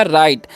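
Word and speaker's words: right: आई जी एच टी तो यहां पर जो है ना जी साइलेंट होता है ठीक है जीए तो आर सेर आई का उचार आई ही करेंगे तो राई हो गया जीएच साइलेंट है टी से ट तो हो गया राइट राइट का मतलब होता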